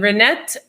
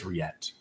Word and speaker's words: Riette: I believe that's Riette. Riette, what did I say? Renette. Oh, I apologize. There's no N in your name. There's no N. The N is silent.